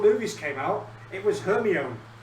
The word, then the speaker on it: Hermione: and pronunciation. Yeah. Oh, yeah. Yeah. But I've also... until the movies came out, it was Hermione, not Hermione.